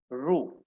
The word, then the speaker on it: rho: Rho, R-H-O. This is the pronunciation.